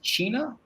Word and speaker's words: Cina: of your last name is that pronounced China I said yeah he said do you